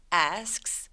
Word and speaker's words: asks: 이런 경우 중간에 K를 삭제시켜서 He asks for advice. He asks for advice. 이렇게 ask 엉덩이처럼 발음해요. 한번 직접 들어볼까요?